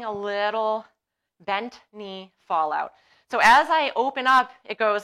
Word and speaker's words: psoas: going to do is the psoas or some people call it the passo s because that's how it's spelled it's like aaron or d nice you guys know what i'm talking about so as so psoas actually comes